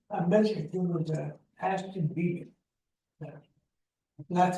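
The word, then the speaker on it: Beebe: shouldn't, I mentioned it was Ashton B. That's spelled B-E-E-B-E.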